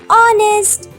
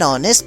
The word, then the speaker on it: honest: before words like r, honest or air cuz the h is silent and they start with a wall sound. Ah, I see. That's why it's an hour and an honest person.